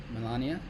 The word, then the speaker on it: Melania: Melania? Melania. And what that kind of did. So I do want to go over that because that was really interesting. So here's my take on Trump coin and Melania coin.